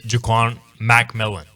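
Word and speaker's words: Ja'Quan McMillian: the highest graded Denver Bron Broncos player is jquan MC melon as that is apparently how it's pronounced according to the Denver Broncos PR staff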